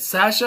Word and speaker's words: Sasha: I'm pronouncing it Sasha because that's how Lance pronounces it.